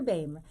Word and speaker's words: Boehme: in my name BAM B Oh hm babe and I always always tell my students that rhymes with name same and old dame but guess what I'm